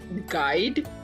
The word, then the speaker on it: guide: You is silent in this, like guide, guide, guide, guide का